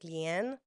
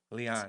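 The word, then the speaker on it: Lian: Leon. L I A N. Lean. There's a problem here. I hear about I when when I say Lean, they're like, "Lean." No. Leon.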